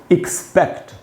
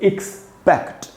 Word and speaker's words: expect: इसकी स्पेलिंग है, आप देख ही रहे हैं, EXPECT, एक्सपेक्ट। पढ़ेंगे दोस्तों ऐसे, एक्सपेक्ट। ये जो पै में जो ए है वहाँ पर ज़्यादा जोर देना है, वहाँ ज़्यादा रुकना है, वहीं पर स्ट्रेस है।